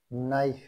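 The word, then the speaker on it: knife: K knock K এন আই এফ ই নাইফ এটা উচ্চারিত হলো না কে এন ও টি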